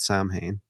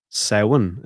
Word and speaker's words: Samhain: Samhain is the. Oh yeah, it is the proper pronunciation is Samhain.